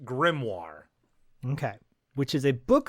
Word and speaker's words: grimoire: what is it Corey he pronounces it a grimmi but it's pronounced grimoire okay which is a book of ancient spells